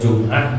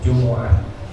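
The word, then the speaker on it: جمعة: Itu syarat imam harus mukallaf idza kana imamal jumu'ati, dibacanya jumu'ah. Boleh jum'ah, boleh jumu'ah. Tapi yang afsah, yang fasihah itu dibacanya jumu'ah bidhammil mim.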